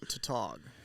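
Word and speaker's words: tautog: it's been sweet um why do you say to talk is that is that a is that really how you print like people pronounce it up here spelling what t-a-u-t-o-g top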